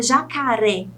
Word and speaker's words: jacaré: Como a palavra jacaré, por exemplo, a sílaba tônica é a última, é o ré.